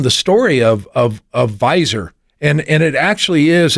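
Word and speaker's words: Weiser: So you the before we left and went to break you talked about wiser weezer. So actually the correct pronunciation is visor. It's German.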